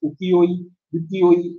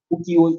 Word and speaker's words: ukiyo-e: There is a different pronunciation used by different people. It can be pronounced as ukiyo-e, or as you can see here, ukiyo-e.